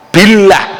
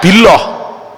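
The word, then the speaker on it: بالله: Tapi kalau jatuhnya setelah kasroh, billah gak billoh, billahi boten billahi. Lek jatuhnya lam jalalah tadi setelah fathah, wallahi gak wallahi.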